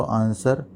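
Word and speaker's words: answer: तो यहाँ पे देखिए हम बोल क्या रहे हैं इसको, आंसर। यहाँ पे W जो है आपका, ये आपका साइलेंट वर्ड है, तो आपका right आंसर option D, W।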